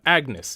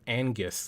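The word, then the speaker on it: Agnus: it angus or agnes i always i always mispronounce this guy's name always uh agnes yeah agnes i i keep like i always make the mistake of calling him angus like as if he's like ang or something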